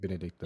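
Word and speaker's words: Benedikta: against um before that when you fight um benedicta um is that how you say her name I was forgetting her name yeah that's how you say her name benedicta yeah when you fight her in her primed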